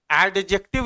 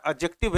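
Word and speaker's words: adjective: एडजेक्टिव इसको बहुत लोग बोलते हैं। बोलने दीजिए। लेकिन करेक्ट प्रोनाउंसिएशन सही उच्चारण इसका एडजेक्टिव है यहां पर डी साइलेंट होता है। जैसे डेट में डी ई बी टी में बी साइलेंट है ना बिल्कुल वैसे ही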